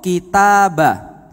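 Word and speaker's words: كتاب: Contoh, kitabah. Kitabah itu kalau baknya dikasih sukun bacanya jadi kitab. Diem. Kitab. Enggak pakai a-nya lagi karena sudah diem.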